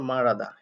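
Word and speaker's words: 말하다: কথা বলা এখন মারাদা এটার উচ্চারণ আসলে সঠিক হয় হচ্ছে মারাদা এর অর্থ হচ্ছে কথা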